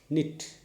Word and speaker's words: knit: g silent k n that is k silent k n i d knit k n i f